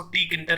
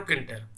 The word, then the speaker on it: Tkinter: कई लोग इसको टी किंटर कहते हैं, लेकिन टी साइलेंट रहता है मेरे हिसाब से, क्योंकि टी किंटर बहुत अजीब सा शब्द लगता है। तो इसको आप कह सकते हो किंटर।